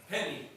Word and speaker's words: Henny: Henny. Did I pronounce that right? That's good. H how do you pronounce it? Did I? Henny. Henny. I did.